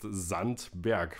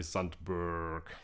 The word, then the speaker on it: Sandberg: Ingredients of the Grand Dark are still very typical Sandberg, and yes, it's actually pronounced Sandberg because it's German, but we are talking English here, that's why it's absolutely okay to say Sandberg.